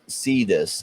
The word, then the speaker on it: Sidus: um let's take a look over at uh cytus see this as the we had an interview with the team the CEO and he he pronounced it see this he's from Europe so